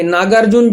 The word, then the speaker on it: नागार्जुन: शाळेचे नाव काय होणार नागार्जुना पब्लिक स्कूल असं करतात नाव नागार्जुन होत ना परंतु लिहिताना शेवटी ए आला आणि मग लोक सर्व तसच प्रोनन्सशन करतात त्याचं तसच उच्चारण करतात नागार्जुना म्हणतात तसं मूळ नाव जे